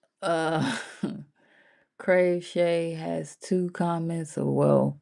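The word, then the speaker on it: Kraveshay: Yeah crave not crochet. Crave Shay, can you see it?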